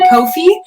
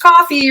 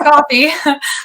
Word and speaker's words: Coffey: of people pronounce it kofi and i'm like nope just just coffee regular drink coffee but they always the